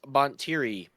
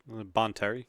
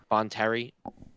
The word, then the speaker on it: Bonteri: We have Lux Bontiri, a ground unit, 2-cost Cunning. Did I say it wrong, Brian? You're smiling. What is it? It's not Bontiri? Bonteri. On Terry. Bonteri. Terry, put it in reverse.